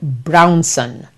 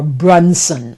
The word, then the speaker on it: Brunson: And this is a young man called Paul Carrick Brownson. Or Brunson, I think is the way he pronounces his name.